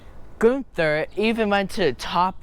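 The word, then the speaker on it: Gunther: I'm I'm not going to get past this gother there we go got it it was amazing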